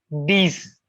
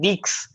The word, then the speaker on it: dix: It's not dix. It's not six. It's not. In French language, it's these.